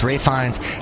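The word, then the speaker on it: Ralph Fiennes: and then Ralph Rines always want to call him Ralph cuz it's spelled that way but it's Rines he is fantastic as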